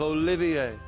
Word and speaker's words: Olivier: I am the drifting poet and seeker of love, Olivier. Okay, now they're doing the French pronunciation, which, yeah, it's inconsistent.